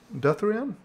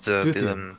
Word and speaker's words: Duthien: It's Duthrion? Is that how you pronounce it? Is it Duthrion? Duthien is Duthien, yeah.